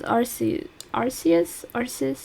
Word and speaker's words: Arceus: Like it's so I think it might be Arceus. Arceus? Arceus? Arceus. Arceus. Arceus. Arceus. I think in English it's everybody kind of agrees that it's Arceus.